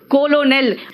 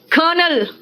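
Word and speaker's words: colonel: कहोगे कोलोनल है ना स्पेलिंग के हिसाब से क्या है कोलोनल ठीक है क्या कहा मैंने कर्नल है ना कर्नल क्या कर्नल का मैंने कहा कोलोनल लिखो ठीक है ना ठीक है नेक्स्ट सुनो लेफ्टिनेंट बोलते हैं क्या बोलते हैं लेफ्टिनेंट लेकिन लिखते क्या है लूटने अब बोलोगे लूटने हां एफ तो है ही नहीं क्या कहा मैंने बोलते हैं लेफ्टिनेंट एफ है ही नहीं बोलते हैं कर्नल आर है ही नहीं देखो लूटने एंड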